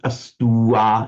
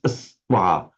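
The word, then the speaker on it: astvā: It's not astua, it's astwa, astwa. Two syllables there.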